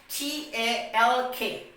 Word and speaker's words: talk: We will pronounce it what? Walk. Now the next example we have is what? TALK, talk.